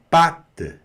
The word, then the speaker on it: pâte: E esse E aqui está puxando um T mudo ali, tá certo? Sempre a vogal E no final de uma palavra vai puxar a pronúncia da consoante, certo?